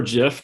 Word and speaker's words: GIF: You see an automated GIF on the right-hand side, GIF or GIF, depending on what your pronunciation is.